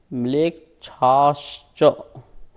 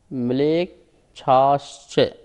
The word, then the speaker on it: म्लेच्छाश्च: आर्या म्लेच्छाश्च, म्लेच्छाश्च, इस प्रकार सूत्र का उच्चारण हुआ।